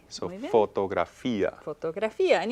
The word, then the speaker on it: fotografía: And you'll notice words right away that start to rhyme with fotografía, Alegría, alegría, mediodía. filosofía. All of those etcétera. ia ending words use an accent on the I.